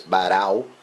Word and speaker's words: Barão: You're probably going to listen to his name being pronounced as Barão. This thing it's really difficult for non-Brazilian, non-Portuguese speakers to pronounce.